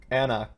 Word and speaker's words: anCnoc: It does say pronounced Ancnoc.